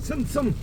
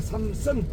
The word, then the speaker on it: 삼선: 아 승이라고 해서 아니 발음이 승이지 경상도는 씨 그래 어 니언 그래 갱상도 바람이 그 발음 못해.